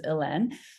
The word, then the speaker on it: Hélène: obviously to everybody, but the accents are from the French pronunciation of Helene, which is Hélène.